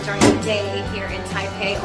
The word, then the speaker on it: Taipei: For an adventure and something cool to do during the day here in Taipei, or Taipei, as the locals say, take a gondola ride.